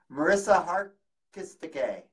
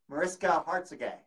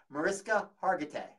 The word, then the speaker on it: Mariska Hargitay: Marissa Hargitay. Mariska Hargitay. Hargitay. Mariska Hargitay.